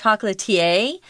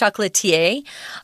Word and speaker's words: chocolatier: didn't know how to say it at first chocolatier is also how it's PR pronounced chocolatier he's someone who's really really uh skilled at